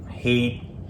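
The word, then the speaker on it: heet: Who hate ya? Who hate ya? Good. All Is right. it hate? Hate? Yeah, like you pronounce it the same way. You spell it different, so it's H-E-E-T, but it's hate.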